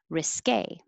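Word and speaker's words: risqué: risk risky and 45 it ends with q-u-e so that tells you it's stressed on that syllable risque 46 scare 47 scars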